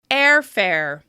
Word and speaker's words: airfare: Airfare. Listen closely. Which syllable is stressed? Airfare. Airfare. Airfare. That's right, the first syllable is stressed because it's longer, louder, and higher in pitch with extra clear mouth movement.